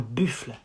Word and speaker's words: buffle: Un buffle. Not un buffle. Un buffle. It's like buffle. Buffle. And same, it ends with a silent E that you don't pronounce. Un buffle.